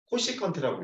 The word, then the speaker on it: 코시컨트: 이걸 뭐라고 읽냐면 코시컨트라고 읽어.